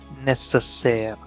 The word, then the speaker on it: nécessaire: And words in English ending in airy, ARY, will be changed to air in French. So necessary would be nécessaire, nécessaire.